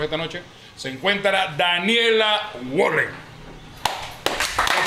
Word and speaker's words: Wallen: que con nosotros esta noche se encuentra Daniela Wallen. ¿Lo pronuncié bien? Está bien pronunciado. Sí, Wallen.